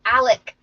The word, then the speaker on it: Alex: so many names he's Alec his name is spelled Alex but pronounced Alec and his little mer